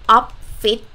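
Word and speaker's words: ออฟฟิศ: office very easy because the word office in thai is up fit just a different pronunciation so come to office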